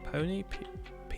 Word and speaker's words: peony: I like to go for maybe a bit of lilac, or should we go for something a bit more of a peony?